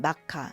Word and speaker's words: 마카: 마커가 대중화 되었습니다 그래서인지 그래픽 마커에 경우에는 마커가 아닌 마카 일본 발음으로 불리고 있는 것 같아요 어